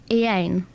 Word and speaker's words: Iain: make okay yes thanks I a i n yes I do Ean well no that's not that because it's a silent I like the silent R